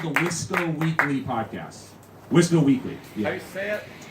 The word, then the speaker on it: WISCO: It's called the Wisco Weekly Podcast.